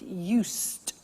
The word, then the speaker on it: used: I said used, with a T sound. Used, not used or used. Used.